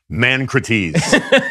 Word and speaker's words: ManCrates: If you studied ancient Greek, you would know that the correct pronunciation of that is Mancrates.